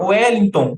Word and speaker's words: Wellington: Por exemplo, quando você chama Wellington, né? Você escreve com W, mas você pronuncia com som de U, né?